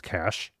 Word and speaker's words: Cache: CA e MH which I know some people pronounce Cas mm it's cash I even told him a a while back